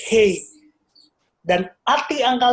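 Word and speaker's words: ה: Jadi angka 5 itu pronunciation-nya, bahasa Ibrani-nya itu Hei.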